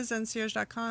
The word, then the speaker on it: ZenCierge.com: Yeah, so it's like a concierge. Like when you go to the hotel and you have a concierge at the hotel that aren't like those just the hooks you greatest up with people?